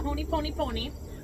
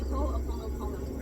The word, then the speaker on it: Ho'oponopono: I call it the honey pony pony, but it's the, how do you say that again? The Ho'oponopono.